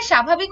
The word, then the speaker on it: স্বাভাবিক: সরণের উচ্চারিত হয় যেমন স্বাভাবিক এখানে আমরা দেখছি দন্তস এর নিচে ব রয়েছে এবং এটার উচ্চারণ আমাদের তালব্য স দিয়ে লিখতে হয় কারণ এটার উচ্চারণটা আসলে স এর মত এরপর আসল এখানে আমাদের